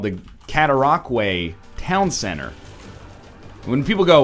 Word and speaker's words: Cataraqui: When people go, what is it, Cataraqui? We go, we don't go, well, that's logical, but that's not how it's done. We go, no, it's all right, it's Cataraqui. That's a tough word to pronounce, you know?